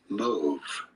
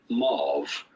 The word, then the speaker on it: mauve: people see it as mauve okay so we're not wrong we're not wrong we're just different so the the French and the British say move and then some people say mauve so we're not